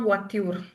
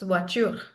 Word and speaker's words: voiture: So in this one, it's not voiture, not at all. It's voiture, voiture. Okay, we learned this in the pronunciation class. So in voiture we pronounce E as well, the ending E, So the right?